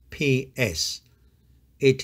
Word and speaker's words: ψ: In English, it is represented by the pair of letters PS, it is pronounced psi, psi, just like the PS in the word lips.